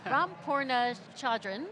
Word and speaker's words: Ram Poornachandran: All right, let's lift the hood with Ram Poornachandran. I just butchered your name. One more time. Ram Poornachandran.